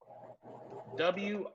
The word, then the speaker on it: wrist: right here it's spelled w-r-i-s-t this is our consonant pair okay which letter is silent which letter has no sound guy is that w is silent or else the word would be whoa wrist wrist okay same